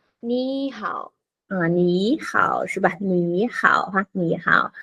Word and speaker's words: 你好: Chúng ta khi mà có hai thanh ba liên tục đi cạnh nhau thì cái chữ đầu tiên nó sẽ đổi thành thanh hai, 对吧？chữ đầu tiên đổi thành thanh hai cô ha.